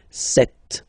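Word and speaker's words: sept: Then here, remember, P is not pronounced. Okay, it doesn't exist. So you got this set sound. Set. Okay.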